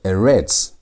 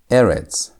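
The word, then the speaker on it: ארץ: You're not going to pronounce it as erets. ETS to emphasize the last part as normal Hebrew words are supposed to be emphasized or pronounced. You're going to read it as erits. Erits to emphasize the first part of the word.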